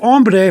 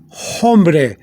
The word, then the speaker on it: hombre: ombre for man but the word ombre for man begins with h but you don't say hombre you say ombre because you don't pronounce the h okay so here the